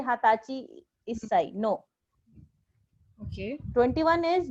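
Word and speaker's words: はたち: Now 20 is an exception. So 20 is known as hatachi. Hatachi. So the pronunciation for 20 is niju, but 20 years old is known as hatachi. So this is only for 20.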